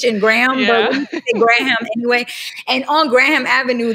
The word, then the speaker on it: Graham: used to call it graham but you're not supposed to pronounce the h and graham graham anyway and on graham